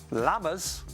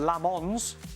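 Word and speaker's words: Lammens: Well, your pronunciation in the studio of Lamens was quite off tonight, guys, I have to say. Lammers, not Lamons.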